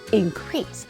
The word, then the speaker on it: increase: 30 아니야 30 4 동사 때는요 두 번째 강사가 있어요 increase 동사는 동사 동사 동사